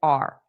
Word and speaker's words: our: So native speakers in a natural pace, we don't stress this the way it sounds in a dictionary audio clip. Our. We just pronounce it as R, R, R, R. So same as the verb to be.